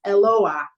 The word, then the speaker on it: Eloah: Okay, so that little mark right there is not an accent mark, it's a break.